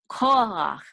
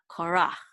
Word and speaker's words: Korach: own is ko ha so notice the accent is on the first syllable call not rock okay so it's Cola not Korra okay good call okay